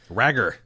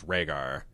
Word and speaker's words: Rhaegar: and comes across a record of regards annulment rag er rag are Hagar's annulment I love in the